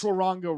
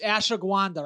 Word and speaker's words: ashwagandha: ashwaranga root is like don't think that's it, bro. It's No, a he- 1,000%. It's Yes, it is. No, no. Look up. He's got it wrong. It's ashwagandha, I think.